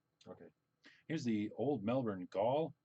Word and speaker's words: Gaol: Here's the old Melbourne Gaol. Is that how you pronounce that? It was just jail, right? Jail. That's how they spell it.